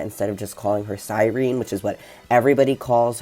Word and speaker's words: Sirene: three times a week he's lured in by silene now it sounds like they say sirene but the name isene okay um you're just